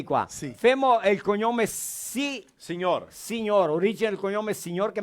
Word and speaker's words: signor: Che la sei scritta signor. Signor, sì, perché Signor. il GN del italiano è come NH del del brasiliano.